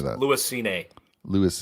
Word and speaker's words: Cine: Lewis Cine. Lewis Cine, okay.